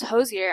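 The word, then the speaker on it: Hozier: you someone would said oh it's pronounce Hosier I'd be like where'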